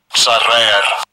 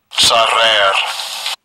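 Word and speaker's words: צָרַר: Let's get the pronunciation first. Strong's H, 6887. Sarer. Sarer.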